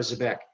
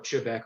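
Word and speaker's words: xebec: it's bent forward uh you've got a zebec or chebeck or s the back there's about a hundred different pronunciations of this this is actually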